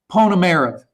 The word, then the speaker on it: Ponomarev: the united states but i think it's pon america is that right ole mist that's that's perfect that's okay tomorrow okay uh the the middle syllable has been uh uh tripping me up so uh anyway you're welcome